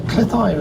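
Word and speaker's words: Cleddau: a little sign on the bridge that spelled C-L-E-D-D-A-U, and the people from Wales tell me that you should pronounce D-D as T-H and the A-U as I. There it goes there now.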